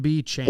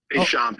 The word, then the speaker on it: Béchamp: B. Champs. Hello? Is that, am I saying? Hey, what's up? What's up? B. Champs. Is that I'm It's pronouncing? Béchamp. It's French.